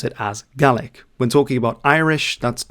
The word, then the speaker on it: Gaelic: before we get started, GA is the correct pronunciation. There's always one person in the comments who says actually it's Gaelic. The thing is when we're talking about Scottish Gaik as it's called, we pronounce it as Galick.